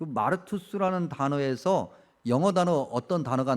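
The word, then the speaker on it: μάρτυς: 증인이란 단어가 어 구제 헬라 발음으로 얘기하면 마투스 그든 그 마르투스 단어에서 영어 단어 어떤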